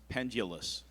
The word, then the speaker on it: pendulous: Caitlin, your word is pendulous. It can also be pronounced pendulous.